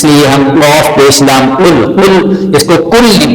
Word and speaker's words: قل: یاد کر سکیں۔ تو آئیے ہم اس کے ہجے کرتے ہیں آج۔ قاف پیش لام قل۔ قاف یہ حروف قلقلہ میں سے ہے۔ حروف